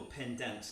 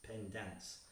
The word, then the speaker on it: Pendans: just if you just google pen dance and i should spell that it's p-e-n-d-a-n-s not dance it's pen dance um google that you'll